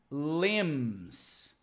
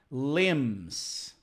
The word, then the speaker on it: limbs: but again pronunciation here limbs the B is silent we do not pronounce the be okay limbs singular limb that's it